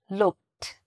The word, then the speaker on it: looked: Looked. Has a t sound at the end.